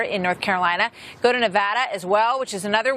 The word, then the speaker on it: Nevada: Took me a while to get that right over the years, but it's Nevada, right?